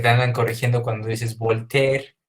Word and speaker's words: Voltaire: O que te andan corrigiendo cuando dices Voltaire y te dicen, no es Voltaire, es Voltaire.